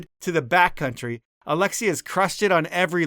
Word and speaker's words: Alexi: well not really because in French my name actually just sounds like Alexi despite the S the S is silent and French so that's